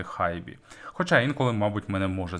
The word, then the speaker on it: HiBy: хібі р-2 другого покоління звісно я знаю що компанія правильно читається як hibi Але ж ми всі її називаємо її хібі тож не будемо страждати намагаючись вимовляти хайбі хоча інколи мабуть мене